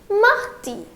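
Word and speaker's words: mardi: It is mi.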